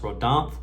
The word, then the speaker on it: Rhodanthe: I believe it's pronounced Rhodanthe by Electimuss.